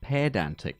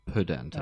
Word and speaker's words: pedantic: And also, I would like to point out that the word is pronounced pedantic, not pedantic. Okay. There's an E in it, thank you.